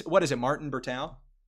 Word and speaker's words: Bertao: Martin Bertau. Yeah, Martin Berteo.